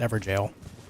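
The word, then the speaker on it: Evergaol: uh Zog it's pronounced ever jail G a o is the original atmology of jail it's like a forever jail yeah what's up M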